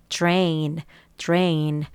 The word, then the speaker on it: drain: 그래서 물을 빼다, 물을 배수하다 이런 행위를 말할 때는 drain. 여기도 R인데 T는 주라고 발음을 해요. 아까 T랑 R은 추, 그쵸? D랑 R은 주 이렇게 하시면 되겠습니다.